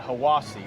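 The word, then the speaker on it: Hiwassee: Yeah, they pronounce that Hiawassee.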